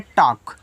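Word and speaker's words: talk: यहां पे आक यानी कि यहां जो एल रहेगा आपका साइलेंट रहेगा। इसको पढ़ते हैं टॉक। इस तरीके से टॉक।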